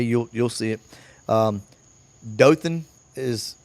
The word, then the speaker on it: Dothan: Um Dothan is it's it's Dothan. Okay. Do O T H A N. It's it's Dothan for you guys up north.